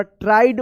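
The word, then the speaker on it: tried: ई डी यहां पे आई ई का आई उच्चारण होना ट्राइड पढ़ेंगे इसको ट्रीड मत पढ़िएगा ट्राइड टो एन ई क्या पढ़ेंगे इसको वन पढ़ेंगे।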